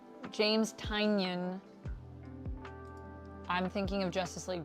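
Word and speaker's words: Tynion: I've been saying his name wrong. James Tanyion.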